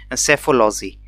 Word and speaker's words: psephology: को बोलते हैं हम सेफोलॉजी. ठीक है, तो P इसमें साइलेंट है, PSEPHOLOGY।